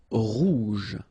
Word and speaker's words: rouge: Rouge. Remember, G-E, je.